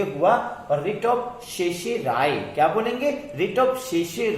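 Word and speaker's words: certiorari: यहां पर दोनों आर साइलेंट है, सी आर और टी आई ओ आर दोनों आर साइलेंट है, आखिरी आर है, यानी शर्टी और राय बोलने के बजाय हम शेषे राय बोलते हैं और इंग्लिश हिंदी में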